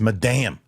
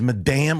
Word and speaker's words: Madame: don't like saying it it's Madame she's Madame web oh that damn web Madame that's why I say it like that M damn web